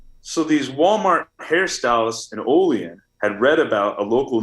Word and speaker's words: Olean: to say the name pronounced like olean new york right up